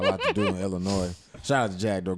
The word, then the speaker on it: Illinois: That's Illinois. It's not yeah. Illinois. It's not Illinois. S is silent.